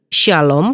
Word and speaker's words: shalom: Dalam Ibrani, shalom ditransliterasikan secara bahasa Inggris S H A L O M dan transliterasi bahasa Indonesia S Y A L O M. Keduanya sama saja artinya karena dalam bahasa Indonesia tidak mengenal pengucapan SH tapi sy.